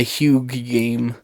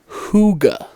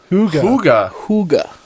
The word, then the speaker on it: hygge: so and then they said it was the huge game and i just like went with it i'm